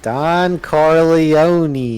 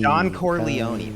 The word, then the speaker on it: Corleone: not I have never seen The Godfather okay Don coron Don Corleone okay okay I got my tongue twisted oh